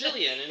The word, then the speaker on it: Gillian: Is it Gillian or Jillian? Because she goes by Gilly, doesn't she? But it's Jillian, which confused me. I was like, it's always, how do you pronounce the G?